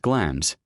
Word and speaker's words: Glamis: The name is pronounced Glamis, the L and S silent.